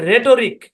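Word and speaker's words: rhetoric: একটা উদাহরণ দেই এখানে এই শব্দের উচ্চারণ হচ্ছে রেটরিক এখানে এইচটা সাইলেন্ট রেটরিক হ্যাঁ অরজিনালি ভাই এখানে রেটরিক মানে এখানে টো না রেটরিক এরকম একটা সাউন্ড আর কি সূক্ষ জিনিসগুলো বাদ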